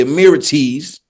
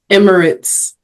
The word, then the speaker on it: Emirates: that's crazy it's not wait how you say it Emirates that's how you say it for real Emirates Emirates Emirates you're